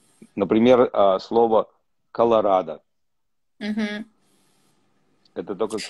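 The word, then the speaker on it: Colorado: А, потому что там, на английский Колорадо произносится о на конце.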